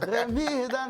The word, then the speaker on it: Rémy Adan: prononciation spéciale, Rémi et Dan. Rémi et Dan, hey, hey. Il faut dire Rémi et Dan. Rémi et Dan. Voilà. Voilà. Si j'ai dit Rémi et Adam, c'est pas, ça le fait pas.